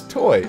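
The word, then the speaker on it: TOI: it as a breeze it's spelled t o i but is read as toy yeah I figured that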